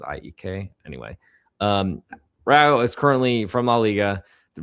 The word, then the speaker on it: AEK: IAK Athens, better way to say it, but I feel like they pronounce it IEK.